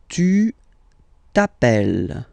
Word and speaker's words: tu t'appelles: All right, second form, tu t'appelles. Okay, remember, final s not pronounced.